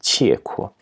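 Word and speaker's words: 契闊: This character, as I said, the normal pronunciation is qi, but in this compound, it's usually pronounced qie kuo.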